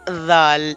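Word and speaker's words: ذال: So the point of pronunciation of this letter is by touching tip of the tongue with the edges of upper front two teeth.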